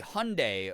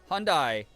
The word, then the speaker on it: Hyundai: So um Hyundai that we say Hyundai here instead of Hyundai uh like it's spelled in Hungle is uh the I was